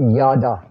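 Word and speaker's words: ידע: says at the top yada that's how it's pronounced yada and yada means knowing god that's that's what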